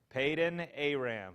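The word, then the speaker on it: Paddan-aram: huh it might be peyton aram if you're having trouble now pronouncing that name peyton aram remember peyton last name here of uh of the paytons and then aram at the end yeah go ahead lay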